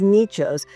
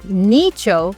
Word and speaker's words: nicho: A dicho, like I said, is a saying, and nicho rhymes with that, so we called it Dichos Nichos project.